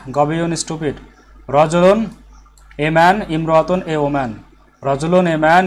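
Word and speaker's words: امرأة: Imra'atun.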